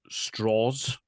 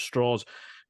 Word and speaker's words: Strauss: And in those segments, you get a little bit more from Louis Strauss. Like the name is spelled Strauss, but he points out it's a southern pronunciation. Louis Strauss, played by Robert Downey Jr.